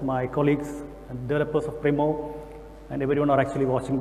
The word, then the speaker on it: Primo: I don't think, is it the correct pronunciation? Yeah, Primo.